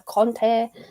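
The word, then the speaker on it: Kanté: oh unlucky kante unlucky i'll say kante but i know obviously commentary is always a conte because that's the french pronunciation but then you just get mixed up with antonio conte and i just get confused so it's kante in my accent tonight guys right um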